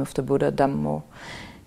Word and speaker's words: Dhammo: But usually I use Buddho, Dhammo, Sangho, the Buddha, the Dhamma, and the Sangha. Which is how they say it in Thai. Buddho, name of the Buddha, Dhammo, name of the Dhamma, and Sangho, the name of the Sangha.